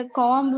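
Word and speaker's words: comb: இப்ப கோம்பு வந்து கோம்புன்னு சொல்லக்கூடாது நாசியா. நாசியா கோம் பி உச்சரிக்க கூடாது. இட்ஸ் a silent letter.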